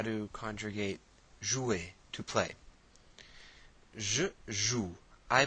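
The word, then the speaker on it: jouent: group of women, joue, J-O-U-E-N-T, and that E-N-T is silent. So it's pronounced the same way as je, tu, and il.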